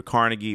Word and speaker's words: Carnegie: about the history of Carnegie Hall. It was built in 1891. Andrew Carnegie or Carnegie, depending on the pronunciation. I sometimes hear Carnegie, I hear Carnegie, but usually people say Carnegie Hall.